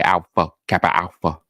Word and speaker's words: Alpha Kappa Alpha: You got to say each of the 6 syllables the same way. Alpha Kappa Alpha.